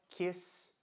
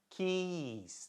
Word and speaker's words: keys: Porque ele não sabia como pronunciar, não sabia não, né? Não prestou atenção na aula, né, de como pronunciar as vogais longas, som de vogal longo, né? Então, por quê? Keys, né? Ele queria dizer as chaves e não beijo, né?